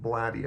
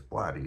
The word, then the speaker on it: Blatty: So, we got The Exorcist by William Peter Blatty, I think, or Blade, I think it's Blatty is how you pronounce his name.